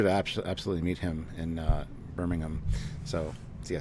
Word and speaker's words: Birmingham: And it was a pleasure to absolutely meet him in Birmingham. So, see, I said it right. Birmingham.